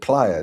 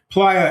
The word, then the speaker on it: playa: You pronounce it player, don't you? Playa as in as in the lazy player. Playa. Yeah, obviously it's the correct way. I'm just doing it the wrong way.